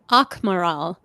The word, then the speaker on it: Akmaral: I should have asked you how to pronounce this. Akmaral? Akmaral.